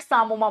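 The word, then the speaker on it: psammoma: silent don't call it the p is silent call it Samoa bodies in the Samoa bodies the calcification is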